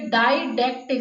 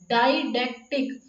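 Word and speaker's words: didactic: ये डाइडैक्टिक, सबसे पहले हम इसकी थोड़ी प्रोनाउंसिएशन के ऊपर वर्क करेंगे।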